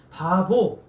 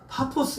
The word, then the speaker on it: 파포스: 전하죠 그래서 어디에 있냐 바보 이래 원래 바보가 아니라 파포스 그래요 근데 우리 어르신들이 발음하기 어렵다고 바보라고 해 놨어요 그래서 여러분 나중에 이섬에 가게 되면 아 바보가 아니라 파포스 것을 아시게 될 거예요 여기서 이제 베타고 또